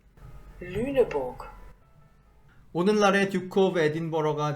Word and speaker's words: Lüneburg: 그 르네버그를 본토 발음으로 한번 들어보겠습니다. Lüneburg. Lüneburg.